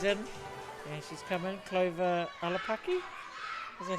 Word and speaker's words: Olapaki: Clover Olapaki. Is that how you pronounce it?